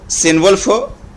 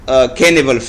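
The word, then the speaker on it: Cynewulf: इसको बाज लोग सिनवल्फ प्रोनाउंस करते हैं क्योंकि सी के बाद वाई है, लेकिन ये कैनिवल्फ है.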